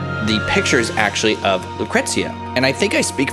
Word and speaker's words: Lucrecia: Okay, so Lucrecia, if that's how you say her name, because in Dirge of Cerberus they say it very Italian, like Lucrezia or something. I've always said Lucrecia, so that's what I'm gonna say.